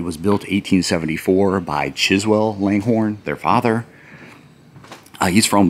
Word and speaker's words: Langhorne: Wanted to do a quick walk around the Langhorne House or the Langor House as the locals pronounce it.